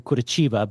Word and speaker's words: Curitiba: It's actually Curitiba, but I didn't know how to say it.